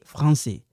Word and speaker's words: français: We don't pronounce this. Pierre et français.